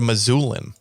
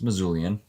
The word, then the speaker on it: Missoulian: won the western state is that how you say it missoulian or is it a missoulin it's missoulian that's terrible okay sorry